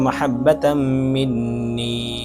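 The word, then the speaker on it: محبة: তারপরে আরেকটা স্থান আছে এখানে মাহাব্বা মাহাব্বাতের ক্ষেত্রে বড় হা উচ্চারণ করতে হবে বড় হা ক্ষেত্রে যদি ছোট হা অর্থাৎ হা যদি উচ্চারণ করা হয় তাহলে এখানে অর্থ পরিবর্তন হতে পারে যার কারণে আপনার মাকসাদ পূর্ণ নাও হতে পারে।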